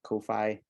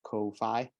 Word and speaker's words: Ko-fi: But you know, it's spelled Ko-fi as in sci-fi, you know.